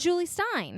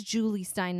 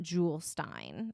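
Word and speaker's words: Jule Styne: he's legit musical theater I think it's Julie Stein not Jules Stein I think is how I've heard it pronounced in the past j-u-l-e yeah I'm confused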